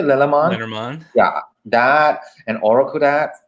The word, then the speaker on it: Lenormand: Lenormand.